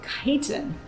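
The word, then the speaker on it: chiton: So you can write snail on your list, and chitin is spelled C-H-I-T-O-N.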